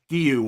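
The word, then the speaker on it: Guéhi: up front, Bravka, Konza, Estbay, and it's not gooey. I found out this week, Trig, it's Gu or something. You're supposed to pronounce it as a a thing.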